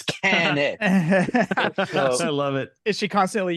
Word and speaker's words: Kanik: name wrong she's like no it's not kenck it's can I love it is she